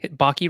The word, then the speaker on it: Baki: Chris Baki, sorry, Baki rhymes with hockey.